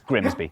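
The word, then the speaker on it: Grimsby: be tricky to pronounce take this place looks simple but what if we told you it was pronounced we'd be lying it's grimby but other places can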